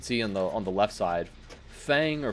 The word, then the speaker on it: Feng: But as you can see on the left side, Fang or Feng, however you say her name. I'm going to say Fang because that's how everybody says it. Although I don't think that's the correct pronunciation.